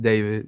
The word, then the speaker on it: d4vd: Hello, my name is David, pronounced David, not D4VD.